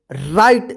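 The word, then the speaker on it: right: क्यों हुआ है क्योंकि यहां पर यदि जी एच आई के बाद जी एच रहता है तो आई का आई उच्चारण होता है ध्यान रखिएगा आई के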